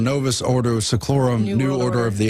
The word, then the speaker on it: Novus Ordo Seclorum: years but now it's Novus a chloro ordem new order of the ages excuse me I said it wrong Novus Ordo seclorum you new order of